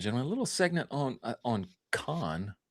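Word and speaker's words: Cannes: A little segment on con or cans, however you say it. I think it's supposed to be pronounced con. I think that's how you're supposed to say it.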